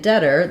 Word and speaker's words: debtor: deter also in um so in debor the B is silent I do have several videos about words like debt numb other words where B is silent if you want a little help for understanding that pattern uh so you can think of it as just having just the T sound and letters o r say IR that's very